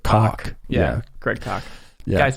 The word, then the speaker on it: Koch: I know it looks like Koch, but he pronounces it Koch.